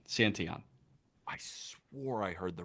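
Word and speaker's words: Santillan: May, Graham Ashcraft, and Tony Santion. Not not Santillian. Santon. I swore I heard the Reds booth call him Tony Santillion. No, Santion. Tony Santion. Tony Santon.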